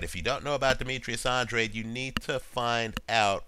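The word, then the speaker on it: Demetrius Andrade: Olympic trials match between Demetrius Andre I believe is how he pronounces it it's spelled Andrade right it's Demetrius Andre he's an unbeaten fighter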